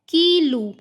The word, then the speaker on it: quilo: तो चलिए इसकी प्रोनाउंसिएशन देखते हैं। पहला है कीलू, इयोगुर्ची, विस्की।